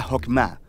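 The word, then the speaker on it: חכמה: En hebreo se pronuncia Jokmah y usualmente se traduce al español como sabiduría.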